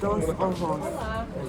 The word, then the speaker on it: Dos Ojos: We are at, I'm gonna let Joy pronounce it. Say it louder. Dos ojos.